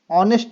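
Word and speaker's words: honest: पढ़ते हैं उसी प्रकार एच का जो उच्चारण है शब्द ऑनेस्ट में ऑनेस्ट पढ़ते हैं इसको ऑनेस्ट नेस्ट नहीं ऑनेस्ट में नहीं किया जाता है तो ऑप्शन नंबर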